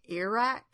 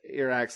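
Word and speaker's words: Eirak: I think they say Iraq. I can't remember. It's supposed to be like Eric, but I think they say Iraq.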